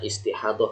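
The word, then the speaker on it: istihadah: nifas dan istihadoh ya ini bacanya istihadoh bukan ijtihad lah jadi yang belum bisa transgerasi ya ini DL itu kalau translasi massa dulu itu dot ya untuk huruf dot ya jadi bacanya istihadoh Ya ini haid bukan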